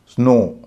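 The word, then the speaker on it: snow: जैसे एस एन ओ डब्ल्यू इसमें डब्ल्यू अंत में है लेकिन डब्ल्यू का उच्चारण नहीं होता है। इसीलिए यहां पर हम उसको अंत में ओ ही मानेंगे। उसका उच्चारण ओ करेंगे। स्नो विंडो हम सब जानते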